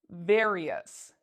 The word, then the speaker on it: various: It's an R. It's not one of our special letters, so we pronounce it like this, various, various.